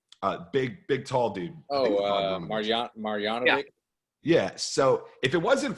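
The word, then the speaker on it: Marjanović: Marjanovic.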